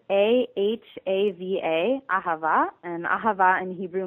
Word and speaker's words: Ahava: It's spelled A-H-A-V-A, ahava, and ahava in Hebrew means love, but we say there's no love in occupation.